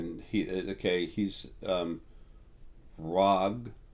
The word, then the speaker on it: Rh'ag: he okay he's um rag the H is silent it's RH apostrophe AG um rag he's um